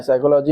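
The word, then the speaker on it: psychology: में साइलेंट क्या है साइकोलॉजी में साइलेंट पी है साइको सा से शुरुआत करते हैं बोलते हैं ठीक है इसी तरीके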